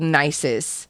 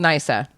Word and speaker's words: Nysa: So apparently, when Alexander the Great reached this city called Nisus, I'm so sorry, it's called Nysa.